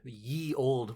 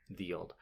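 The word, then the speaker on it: ye olde: Yeah, like we have the ye old. We love to say that. They don't pronounce it like that. It was still pronounced with a TH. Yeah. The old.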